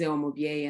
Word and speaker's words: Umubyeyi: off hello everyone my name is actually spelled like um o'mubier and i'm about three months into uh co-living